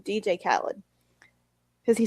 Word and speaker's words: Khaled: i know how to say his name dj khaled because he says it in every song that